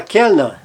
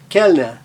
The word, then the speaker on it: Kellner: Ou na palavra Kellner, Kellner, Kellner, ele é breve e aberto. Então, seguido de duas consoantes, ele é aberto e breve.